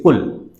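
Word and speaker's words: قل: But we don't say cool, we say kul.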